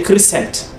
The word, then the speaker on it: crescent: So, this C, yes. This C, yes. C go? Yes. This C is silent. Mm-hmm. It's not being pronounced.